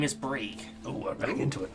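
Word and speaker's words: Brheeg: The H Okay. is silent. Brieg. Bree.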